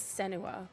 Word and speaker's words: Senua: character in the end yeah um I never pronounced her name correctly but is it Sena sen Sena from hell I think it's senua maybe is it s yeah she was also